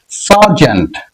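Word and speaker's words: sergeant: For example, সার্জেন্ট, সার্জেন্ট, এখানে ই এর উচ্চারণ আ এর মতো, অর্থাৎ আকার একটু দীর্ঘ করে একটু দীর্ঘ ভাবে উচ্চারিত হবে। ঠিক একই রকম হবে হার্ট, হার্ট, ই এর উচ্চারণ দীর্ঘ আ এর মতো।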